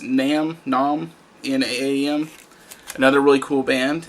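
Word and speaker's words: Naam: Next band, I believe it's pronounced Nam, N-A-A-M.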